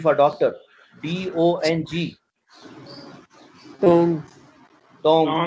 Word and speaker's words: Deng: For doctor, DONG, Tong, Tong. इसी से थोड़ी देर पहले में हमने कहा था DENG, वो जो हमने नाम टंग शाओपिंग, DENG, टंग बोले, टंग, हाँ टंग, तो गाफ की साउंड है।